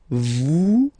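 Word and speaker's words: vous êtes: Vet. Same thing here. Notice that final S is not pronounced at.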